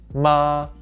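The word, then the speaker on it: 妈: talking about a woman this character means mother and is pronounced ma it is used in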